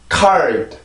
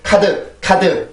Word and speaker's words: card: card. 다시 한번 card. 네, 그래서 이 단어는 그렇게 발음이 돼요. 절대 카드 이런 단어가 아닙니다.